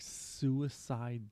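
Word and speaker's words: Sewacide: called Uh sh oh it's called like suicide 3 it's not really spelled it's spelled weird like s e w a c i d e that record is mindblowing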